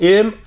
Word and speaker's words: Mitanni: Okay, that's spelled M-I-T-A-N-N-I, Mitanni, in the great westward bend of the river, where it approaches most closely to the Mediterranean, right?